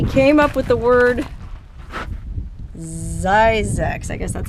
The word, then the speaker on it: Zzyzx: And he came up with the word Zzyzx. I guess that's how you're supposed to pronounce it, not Zzyzx, Zzyzx.